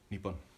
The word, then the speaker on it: niibin: Niibin.